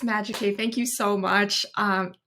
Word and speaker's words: MAGICAVE: Yes, it's MAGICAVE. Thank you so much. I'm also excited to be here too. And yes, MAGICAVE.